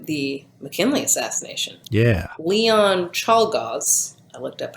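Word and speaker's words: Czolgosz: we get to the mckinley assassination yeah leon chalgaz i looked up how to pronounce it he assassinated president mckinley and i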